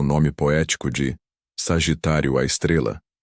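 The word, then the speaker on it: Sagitário A*: o nome poético de Sagitário à Estrela, pronunciado à Estrela.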